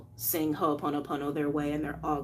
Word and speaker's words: Ho'oponopono: kind of fast, so to break down that word a little slower, because you can see it in the title how it's spelled. Ho'oponopono, ho'oponopono.